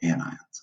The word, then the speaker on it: anion: form negative ions called anions and it's my beautiful little ant ion notice you don't usually pronounce the T when you're talking about any anions right but the question